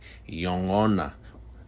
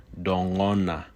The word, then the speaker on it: yongona: You will oftentimes hear this word pronounced just as I said it, yongona. But it may also be pronounced with a D sound, dongona.